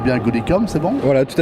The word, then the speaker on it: Goodicom: Est-ce que je prononce bien Goodicom, c'est bon?